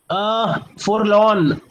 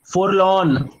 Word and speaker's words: forlorn: Aaris forlorn. I would say Yash, observe the way I am pronouncing it. Forlorn. हल्का सा आर भी pronounce कर रहा हूं मैं.